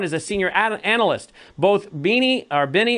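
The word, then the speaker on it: Binney: retired in 2001 as a senior analyst both beanie or Benny how you say his name beanie Benny it's William Benny he's an American hero they made a movie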